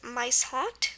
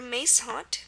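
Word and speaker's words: muishond: Word number 8 was maishond or maishond, pronounced both ways.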